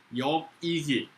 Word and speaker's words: 역이기: 갖다가이라고 읽어 사람 이름이기 때문에 여기서 식자를 갖다가 2라고 읽습니다 그래서 역이기 역사 성이 역시고 이데 역이 고양 사람인 여기기는